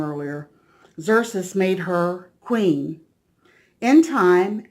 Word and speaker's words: Xerxes: Xerxes made her queen.